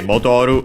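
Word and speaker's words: 戻る: Okay, Modoru accented instead.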